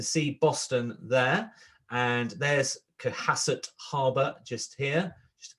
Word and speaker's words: Cohasset: a trip anyway to, I'm probably going to pronounce this wrong, Cohasset Harbour. Cohasset? Cohasset.